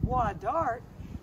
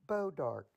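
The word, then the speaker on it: Bois d'Arc: spelled b-o-i-s apostrophe a-r-c you think it might be why dark but we pronounce it bow dark it's green horse apples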